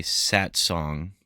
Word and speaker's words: Satsang: made for this by Sat Song, but it's spelled Satsang in case you want to look that up.